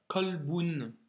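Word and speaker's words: قلب: Alif Lam devant et ça se dirait kalboun avec un à la fin ensuite iciun un Coran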